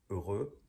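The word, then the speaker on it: heureux: the next one is urugu or a rose I put the spelling here okay but we really don't pronounce the h we don't pronounce the X so uh really listen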